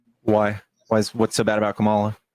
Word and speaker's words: Kamala: Just anything but Kamala, dude. Why? What's so bad about Kamala? Kamala, by the way.